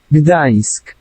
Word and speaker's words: Gdańsk: Gdańsk, Gdańsk, Gdańsk, Gdańsk. Gdansk. Okay. I guess that's how this dude pronounced it.